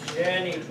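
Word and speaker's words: gentium: A soft G on that one, genitu.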